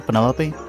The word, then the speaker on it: Penelope: Is that short for Penelope? Officially, yes, but I never can be bothered with all four syllables of it.